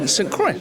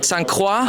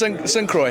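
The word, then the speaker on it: St. Croix: pronounce it s c was it the French saying sanqua I've heard squa I've heard s cro which is probably incorrect but s Croy is it's what I say okay fantastic um quick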